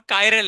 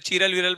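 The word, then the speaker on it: chiral: अगर compound कायरल है। क्या है? कायरल। अगर कंपाउंड कैसा है? कायर। अब इसको लोग अलग-अलग प्रोनाउंस करते हैं। चिरलविरल प्रोनाउंस करते हैं। ठीक है? इसका एक्चुअल प्रोनाउंसिएशन क्या है? कायरल।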